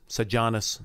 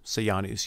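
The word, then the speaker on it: Sejanus: advisor named alias Janos said Janus say ah nice you'll hear both ways and this say Janos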